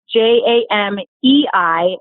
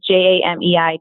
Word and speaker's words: Jamei: Well, first of all, my name is Jamei, as you guys all know, but it's spelled a little bit funny. It's Jamei and then, like the month. So Jamei.